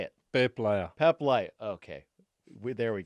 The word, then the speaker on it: Peep Laja: I always say your name wrong. Peep Laja, Peep Laja, Peep Laja. Say it. Peep Laja.